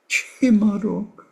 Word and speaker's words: Chi ma rung: And when he talked about Tonglen, he would say these 3 Tibetan syllables: Chi Marung, Chi Ma Rung.